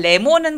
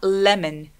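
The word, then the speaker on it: lemon: 레몬은 발음 어떻게 할까요 레몬 아니고 을 않네 룰라 맺는 l 발음을 정확하게 하기 위해서는 맨 앞에 을 소리를 좀 내주시면 편안해요 그래서 레몬 밀 발음 아니고요 으 라면 4 한국어의 리얼 발음은 랄랄라 혀가 천정에 닿아요 그런데 영어에 l 발음은 윗니 뒤에 낫죠 그래서 레몬이 아니라 을 아멘 을 아멘 이런 소리가 나는게 좋습니다 같이 바로 해볼까요 올라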